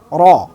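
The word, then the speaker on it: ر: আমরা ঠিক যেভাবে এই রকে উচ্চারণ করে থাকি, ঠিক সেভাবেই আরবিতে উচ্চারণ হবে।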